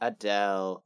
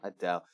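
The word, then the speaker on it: Adèle: It doesn't change the way it's pronounced, except that we omit the A at the very end. It's just Adele. Adele. Not Adela. Adele.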